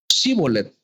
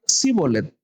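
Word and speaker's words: shibboleth: no Entonces le decían ahora pues di shibolet y él decía zolet porque no podían pronunciarlo correctamente Entonces le echaban mano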